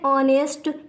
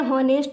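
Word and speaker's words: honest: इसी तरह एन ऑनेस्ट, इसको कई लोग बोलते हैं हॉनेस्ट, तो हॉनेस्ट नहीं होता, यहाँ पर जो हमारा एच है वो साइलेंट रहता है।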